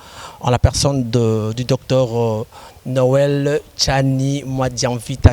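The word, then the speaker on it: Noël Tshiani Mwadianvita: Non, vous l'avez prononcé correctement. Très bien là. Noël Tchani Mwadianvita, c'est comme ça que ça doit être prononcé.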